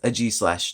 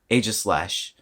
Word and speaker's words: Aegislash: said a G slash because the actual pronunciation is a G slash not aegislash but a G slash aegislash I'm too used to saying aegislash but a g /